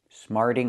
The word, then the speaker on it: smarting: Smarting off. Again, the T changes to a fast D.